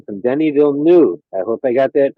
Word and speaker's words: Denis Villeneuve: I should stay humble, but nearly as well as Denis Villeneuve. By the way, that's the correct pronunciation.